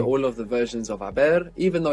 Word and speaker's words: haber: eaten, I have gone, in Spanish it's haber. Haber. H-A-B-E-R. And of course we have the silent H there.